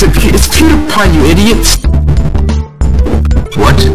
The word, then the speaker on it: PewDiePie: Peter, how do you pronounce his name? It's PewDiePie, you idiot.